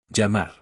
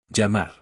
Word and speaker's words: llamar: Llamar. That means to call. The double L makes the ya sound, just like in the word for key.